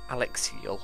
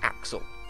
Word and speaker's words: Axl: soldiers name completely wrong it's not Alexia or Alex like I was saying it's Axl Axl all rich I don't